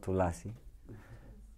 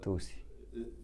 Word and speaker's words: Tulsi: It's not Tulsi. But Tulsi is actually in Bengali language. So my name it's is in Tulsi. Same all over India. Tulsi. This is how it's pronounced.